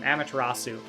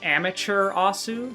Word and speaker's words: Amaterasu: her by her name, Amaterasu. But I mispronounced it one time as Amateur Asu, so calling her an amateur. As a portonamo, I always say that word wrong, of amateur and Amaterasu.